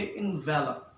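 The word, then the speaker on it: envelop: लोग ध्यान में रखिएगा, एनवेलोप जब नाउन है तो ये एनवेलोप है। जब हम इसको एज अ वर्ब यूज करते हैं, अब ये देखें इसके स्पेलिंग भी डिफरेंट हैं, उसमें ई नहीं आ रहा। अब हम इसको एज अ वर्ब यूज कर रहे हैं तो हम इसको कहेंगे इन्वेलप।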